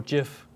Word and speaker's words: GIF: oh yeah or jiff would you say gif or jeff uh i say gif yeah me too but apparently the creator of gifs says that it wasn't supposed to be jif well let's spell it with a j it's the same